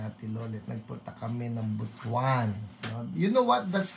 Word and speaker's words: Butuan: Nagpunta kami ng Butwan. You know what? That's how you that's how you pronounce it. Okay? Yung B U T A N. You don't you don't um you don't pronounce it as butuan.